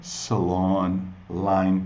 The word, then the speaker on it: Salon Line: causam também confusão Salon Salon Essa é a pronúncia de salão o salão de belezas Beauty Salon então a marca é Salon Line se você tiver falando em inglês é claro